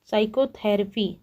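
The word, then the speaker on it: psychotherapy: 27 है विच letter is silent in the word साइकोथेरेपी। तो इसमें हम लोग पी को साइलेंट कर दे रहे हैं, इसलिए सही ऑप्शन आपका साइलेंट वर्ड क्या हो जाएगा, पी सही हो जाएगा।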